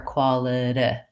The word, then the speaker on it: quality: - if files their quality and it's challenging to move from one to the other it's also challenging to end on a tense E even though it has to be short and unstressed so we'll be looking